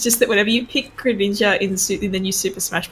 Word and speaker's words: Greninja: It's just that whenever you pick Greninja in the new Super Smash Bros. Game, the announcer sort of goes, Greninja, and like the emphasis is on Nin, and I just wanted